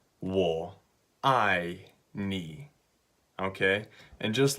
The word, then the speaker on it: 我愛你: so it's really simple it's three syllables wool I nee okay and just like